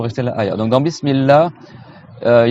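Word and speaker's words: بسم الله: Là, faut faire attention. Au début, il y a une shadda, une lettre doublée. C'est pas Bismillah, c'est Bismillah. Tu vois? Allah. Tu fais deux L.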